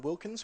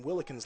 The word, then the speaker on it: Wilkins: the Australian defensive lineman Wilkins who while pronouncing his name correct cor ly this time around I was pronouncing willkins last time and he sent me a personal message to correct that so Wilkins is the